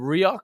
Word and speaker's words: Rioux: How do you pronounce his last name? Rioux?